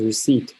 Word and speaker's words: receipt: Same thing as receipt, we don't say receipt, okay?